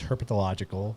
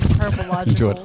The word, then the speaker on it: herpetological: So next Saturday, we're going to take a trip out to the Phoenix Herpetological Sanctuary, which is Is that the I didn't put enough into Herbological.